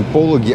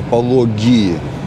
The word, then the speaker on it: Пологи: Правильно, кстати, звучит не Пологи, а Пологи. Ну, мне как-то привычнее назвать Пологи. поэтому не обижайтесь, если вдруг вам режет ухо мое произношение.